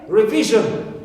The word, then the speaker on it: revision: just before it clear also like revision so is suffix so I stress V which comes directly before right or also sh like